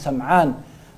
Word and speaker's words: Sim'an: de Thawban, ou bien Nawas ibn Sim'an, certains prononcent Sam'an, hadith de Nawas ibn